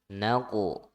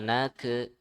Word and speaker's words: نقعا: Nah, kof kolkolah ya. Kolkolah dipantul bacanya ya. Terus kof itu huruf tebal ya, huruf tebal. Jadi ditebalkan juga ya, dipantul dan ditebalkan. Naqu ya. Jadi jangan nake, bukan nake salah.